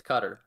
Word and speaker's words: Qatar: I'm sure, because I've also heard it pronounced Qatar. It's Qatar.